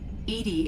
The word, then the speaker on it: EDI: airlock is a jar why are you named Edie Edy is the phonetic pronunciation of e di that is an acronym